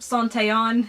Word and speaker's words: Santellan: And second, of course, is my bestie, Santellan, or Santellan, as it's actually pronounced.